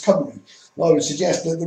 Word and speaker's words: Cymru: But obviously it's spelled with a G. Now, everywhere else, for some reason, it's been softened to a C, and people know it as Cymru.